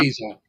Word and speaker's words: Quezon: It's pronounced Yeah, Quezon.